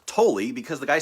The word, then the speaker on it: Tolle: now and i only recently learned that it's pronounced totally because the guy said his own name in a youtube video i always thought it was tall um eckhart tolle the power of now so